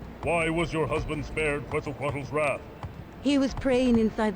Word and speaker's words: Quetzalcoatl: I've heard it pronounced both Quetzalcoatl and Just Quetzalcoatl, and I'm true not back entirely then, sure which not is this which.